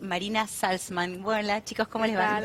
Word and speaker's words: Salzman: con Víctor Tarico y Marina Salzman. Hola, chicos, ¿cómo les va?